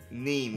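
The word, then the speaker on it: Niamh: Nim or something? The one who was... I think it's pronounced Neve. Neem, whatever.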